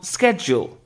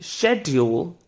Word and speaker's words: schedule: the word is um schedule so instead of saying schedule why not try saying schedule so although the spelling is same there's a difference there's one more word